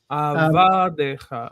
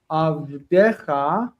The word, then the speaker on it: avadecha: And they said to him, Avadecha. Oh, yeah. Because what you read it as was the singular in pause. Avdecha is your servant, but avadecha, the stress is here.